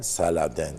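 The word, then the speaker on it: Saladin: daha evvel de değindik saden ismini ismine ekleyen saden diye telaffuz ediliyor Fransız aristokratları Şövalyeleri var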